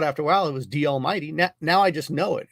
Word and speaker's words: DALMYD: It's D Almighty, and it's spelled DALMYD.